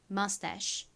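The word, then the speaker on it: mustache: 끝에는 C H가 오는데 여기서 CH는 소리가 나고 E는 헛깨비로 소리가 나지 않습니다. 그래서 mus라고 발음이 되죠. 발음 연습 같이 해 볼게요. mustach mus 좋습니다.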